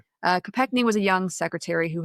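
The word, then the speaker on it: Kopechne: it ended up killing his passenger Mary Joe Copekney, I believe, is how you say your name. That's right. Uh Copcnney was a young secretary who had assisted with the presidential campaign of RFK Senior.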